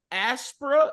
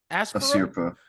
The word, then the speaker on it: Asirpa: Aspra, how do you pronounce their name? Asirpa.